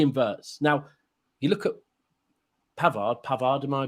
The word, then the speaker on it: Pavard: Now, you look at Pavard, am I pronouncing it right? Yeah. He could do that better than Walker could instantly. Pavard.